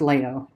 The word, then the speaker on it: Leo: So there's the website for Pomoja Leo. It's pronounced Leo. I keep saying Leo.